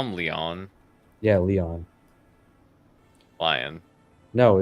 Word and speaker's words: Leon: in Resident Evil Leon it's French Leon Kennedy I don't care that he's lie on it he's not French in game it's lion lion that's that's how you that's how you pronounce his name that's what they do